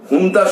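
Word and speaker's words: junta: ও জুন্তা বাহিনীকে যেমন করছে, হুন্তা বাহিনীকে লেখা হয় ঝুন্তা, যেমন ঝুন্তা, কিন্তু উচ্চারণটা করে হচ্ছে হুন্তা। অনেক পরে আমি জেনেছিলাম যে হুন্তা, আসল উচ্চারণটা হচ্ছে হুন্তা।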